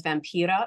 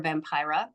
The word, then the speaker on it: Vampira: And she was a Finnish woman, and we know her as Vampira or Vampira. I pronounce it in the Finnish dialect because that's what I grew up knowing.